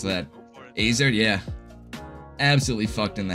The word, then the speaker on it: AZR: How to pronounce that. Azer, yeah.